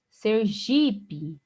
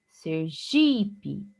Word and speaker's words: Sergipe: Sergipe, Sergipe. Observe que o G é a sílaba tônica mesmo, mas é uma paroxítona terminada em E, e por regra, a paroxítona terminada em E não é acentuada.